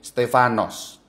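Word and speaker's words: Στέφανος: Stefanus dalam ejaan Yunani Kalau Anda Baca Alkitab dalam bahasa Yunani Stefanus to berbunyi stefanos dalam praksis apostol on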